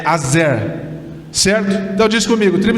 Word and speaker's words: Aser: Queridos, nós vamos falar hoje sobre a tribo de Azer, ou Aser, a maneira que você quiser, mas a pronúncia é Azer, certo?